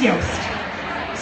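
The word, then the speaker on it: Yoast: someone actually told me it rhymes with toast it is yast so this is a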